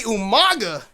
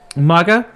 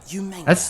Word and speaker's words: Umaga: Umaga? What is that? What is the word? How do you pronounce it? The incorrect pronunciation? Umanga? Umanga? As William Regal says it, Umanga.